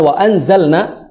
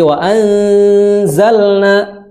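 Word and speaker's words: وَأَنزَلْنَا: Wa anzalna, di situ ada hukum ikhfa, maka ditahan dulu, jangan wa anzalna, tapi wa anzalna, ditahan dengan suara gunnah juga.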